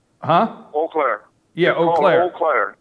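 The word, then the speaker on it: Eau Claire: is coming to Wisconsin tomorrow and I can't pronounce the name it's e Au Clara what what is what is the name huh o Clair yeah oair oair right that's e a u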